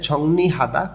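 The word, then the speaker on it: 정리하다: তার পাশে আছে ঝংনি হাদা, গোছ গাছ করা। ইয়ং ভাচ্চিমের পরে যখন রিউল আসে তখন রিউলটা ন উচ্চারণ হয়।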